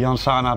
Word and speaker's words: Llansana: Janzana Janzana. Ja, kijk, in Spanje spreek je dubbel L, spreek je uit als een J.